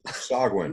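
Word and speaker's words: sahuagin: So that's how you pronounce it? Sogwin.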